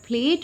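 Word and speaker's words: plate: यहाँ इस word प्लेट में ई की साउंड क्या हो जाती है, साइलेंट हो जाती है, ठीक है ना।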